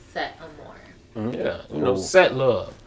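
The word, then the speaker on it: Setteamoure: out my name okay so s e t t e a m o u r e that is set am more yeah you know set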